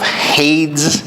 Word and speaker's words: Hades: keys of death and of Hades that's the right pronunciation therefore write these things